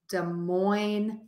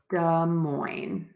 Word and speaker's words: Des Moines: question how is the city Des Moines Iowa pronounced okay so I would say da moin Iowa Des Moines Iowa that's a great question um oftentimes in